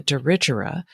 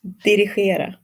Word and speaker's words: Dirigera: We've been calling it the Dirigera, and that is wrong, y'all.